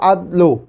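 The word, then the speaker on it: عدلٌ: کے 2 معنی ہے، اگر آپ اس کو صحیح تلفظ کے ساتھ پڑھنا ہے تو عدلو، یعنی عین پر فتحہ، دال پر سکون اور لام پر جو ہے ضمہ کے ساتھ پڑھیں گے عدلو۔ تو یہ جو ہے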